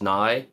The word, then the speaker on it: nigh: So the first one was called The End Is Nigh, and Nigh spelled like Bill Nye the Science Guy.